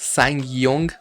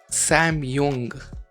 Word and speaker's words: Sang-yong: It's pronounced Sang-yong. Sang-yong? Okay, I remember that. Sang-yong. Hahaha. Bro, what? What? Sam-yong.